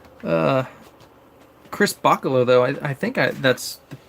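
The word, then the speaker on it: Bachalo: his name uh Chris Baca low though I think that's correct pronunciation right Baca low like Bach like the musician so anyway oh yeah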